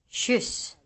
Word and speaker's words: kyss: K is pronounced like a light ch, a sound similar to the sound in English birch, inch, etc. Listen to the examples. Kedja. Kines. Kyss.